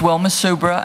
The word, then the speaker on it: Wilma Subra: My name is Wilma Subra, and I'm providing testimony on behalf of Subra Company, Louisiana Environmental Action Network, and the Lower Mississippi River Keeper.